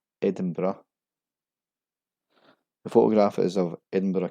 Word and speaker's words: Edinburgh: Edinburgh is the most famous mispronunciation. This is actually pronounced as Edinburgh.